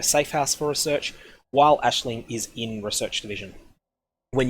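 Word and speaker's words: Aisling: you need Ashley now if you're not familiar with that name will look like a filing AI l s IMG I think or something but it's actually pronounced Ashley she needs to be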